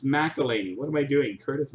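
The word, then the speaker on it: McElhinney: How do you pronounce that? McElhenney? McElhenney? It's not even Chris, it's Curtis. Yikes. John Tavares, mini for the Islanders. McElhaney. It's McElhaney.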